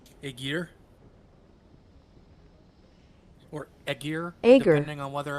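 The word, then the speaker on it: Aegir: accord according to Google I hold up agar it's agar Yeah, which is what that would be.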